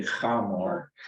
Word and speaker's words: Hamor: Yeah, it's actually Hamor, the Hivite, the prince of the land, saw her, he seized her and lay with her and humiliated her.